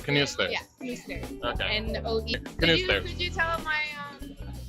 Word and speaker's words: Knoester: Right, Knoester.